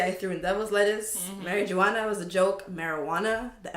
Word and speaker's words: marijuana: And calling it marijuana, because like, there's a J, and obviously J is silent because, you know, it's in Spanish, and we turned it into H.